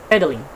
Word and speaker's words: pedaling: So in the word of pedaling, we can stress the first syllable of this word, pedaling.